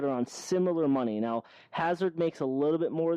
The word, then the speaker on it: Hazard: So I think Seb's about to have a heart attack about the way you just pronounced his name. Hazard.